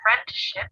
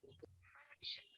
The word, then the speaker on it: friendship: Whenever T or D comes between two consonants at the end of a syllable, it gets elided, which means that it doesn't get pronounced. For example, instead of scripts, we say scripts. And instead of friendship, we say friendship.